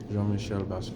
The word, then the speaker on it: Jean-Michel Basquiat: Jean-Michel Basquiat.